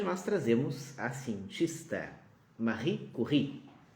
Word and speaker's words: Curie: trazemos assim festa Marie curry ou para alguns pronúncia brasileira Mercury Na verdade uma recurring seria mais adequado sendo que é seu nome de casado dela que é o nome francês porque é uma cientista